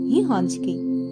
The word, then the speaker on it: гігантський: навіть зникати як наприклад у слові гігантський це слово ми пишемо з літерою Т від слова гігант а вимовляємо і чуємо його без звука Т гігантський бо звук т зник під впливом наступного звука с так би мовити випав